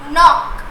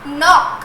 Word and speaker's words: knock: Because this K is silent.